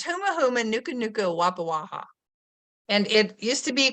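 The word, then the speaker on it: humuhumunukunukuāpuaʻa: And when I was a very young kid, I taught myself to pronounce this word. It's huma huma nuka nuka wapa waha.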